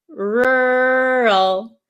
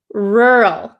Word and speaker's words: rural: make the sound so this one is really difficult because there are two RS and then an l and i know in some countries um the American R is very difficult to pronounce right so R rural